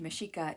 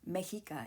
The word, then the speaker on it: Mexica: The Meshika, pronounced Meshika in their native Nahuatl language and Mexica in Spanish, are sometimes referred to as the Aztecs.